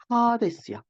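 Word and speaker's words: ᾍδης: 이오타는 거야 옆 첨자 이오타는 어때요 발음을 안 해 줘요 이거 뭐예요 그냥 하야 하 하데스 하데스 어디서 많이 들어갔죠 하이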